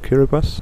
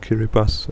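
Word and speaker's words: Kiribati: of the country of kiribas now kiribas is actually spelled kirati like with a TI in the end but you pronounce it kiras so the ti becomes an S for some reason took me a while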